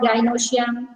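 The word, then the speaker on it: gynoecium: of pollen grains, and gynosium. Now, see, wait. Gynosium. You learn the pronunciation. It is androecium, gynosium.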